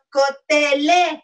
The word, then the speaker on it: cotelé: Cotelé. Cotelé, con acento en la E.